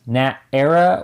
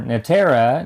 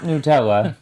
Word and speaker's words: Natera: to master such as Nat era or NATA New Beginning by Horizon games NATA or Nat era or not not Nutella no not Nutella that is not one of the pronunciations uh New Beginnings this